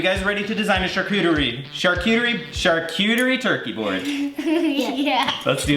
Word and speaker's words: charcuterie: Thanksgiving is all about the food, so we are gonna do our best to recreate this cool turkey charcuterie board. How do you say that word? Charcuterie.